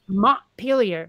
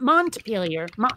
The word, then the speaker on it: Montpelier: of Vermont Vermont is Montpelier not mom failure earlier there's a town